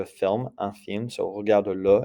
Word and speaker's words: regarde-le: And notice that you're going to pronounce that mute E that you usually don't pronounce with a little, like a little pickup vowel. Regarde-le.